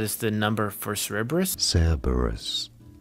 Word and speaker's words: Cerberus: Cerberus. Stress on the first syllable.